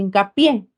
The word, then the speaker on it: hincapié: una sola palabra si yo uno inca más pie pronuncia hincapié recae en la última sílaba Por esa razón se